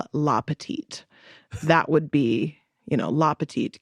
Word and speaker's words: petit: So because it's masculine, you use le, which is the masculine article, and petite instead of petite. Like, basically the last T is silent in the masculine version.